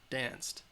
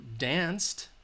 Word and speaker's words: danced: danced that you hear danced all right the Edie sound because again dance it ends at that S sound that's its voiceless so danced can you hear it it ends with this sound that T alright danced